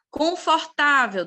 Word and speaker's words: confortável: olha só a penúltima confortável da mesma forma confortável penúltima sílaba tônica grave Beto penúltima sílaba